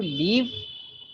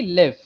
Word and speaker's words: live: of my Learners make it would be live not leave live okay so uh both are same pronounce no as I said the pronunciation is different so the first one is live I like to live and the second one is leave like I left town I leave okay live and leave exactly